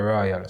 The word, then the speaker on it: Rawal: like it's an acronym he says it's ricardo royale so i just did it different isn't it so i a w a l yeah is he me